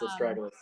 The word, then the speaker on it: astragalus: And the list includes, never even heard of this one, but astragalus, is that how you pronounce it? Yes, astragalus.